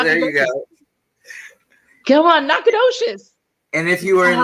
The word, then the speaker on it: Nacogdoches: Can you tell everybody how to pronounce that word? Oh, Nacogdoches. Yeah, there you go. Come on, Nacogdoches.